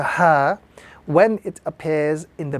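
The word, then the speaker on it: ح: This letter is the letter ha, or the small ha in the Arabic language. This ha is to be pronounced without any sort of force or any sort of emphasis.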